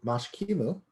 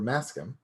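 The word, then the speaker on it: maškim: blood um let's see we've got the mash kimu or maskim depending on your uh preferred pronunciation mash kimono is more accurate but pronunciation's kind of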